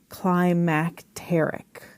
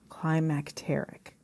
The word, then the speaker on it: climacteric: the name is spelled Climacteric, Climacteric. Sometimes I say climacteric, but it's climacteric. And that's defined as extreme and far-reaching implications or results. That's from Oxford Languages. So if you Google that word, climacteric, Climacteric, that might be what pops up.